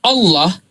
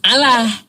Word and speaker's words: Allah: Ada kaidahnya apabila diawali dengan fathah atau domah maka dia tafhim Allah gitu pengucapannya bukan Allah. Bukan Allah.